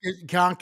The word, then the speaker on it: conch: K is yeah con conch is is like a con or k it's pronounced both ways but thanks for correcting